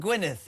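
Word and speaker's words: Gwynedd: She's in Gwyneth. Is how do you say that Christian? Oh, Gwyneith.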